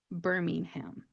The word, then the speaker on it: Birmingham: Birmingham. When you look at the spelling, it's actually pronounced exactly how it's spelled.